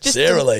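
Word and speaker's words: Sara Lee: Sarah Lee, isn't it? Sarah, koozie, say la vie. No, not for this one. It's Sarah Lee. Well, it's spelled Sara, so I'm sure it's Sarah.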